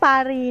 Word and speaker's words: ปารี: จะ ถาม ว่า เอ๊ะ ปารี นี่ มา จาก อะไร เนาะ ชื่อ ปารี ฟัง ดู ง่าย ๆ ดดี ปารี เนี่ย ภาษา มาลายู ค่ะ ออก เสียง ว่า ปาริ แปล ว่า กระเบน จะ